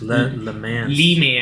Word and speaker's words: Le Mans: and that's spelled LE space MANS. Le Mans. Le Mans.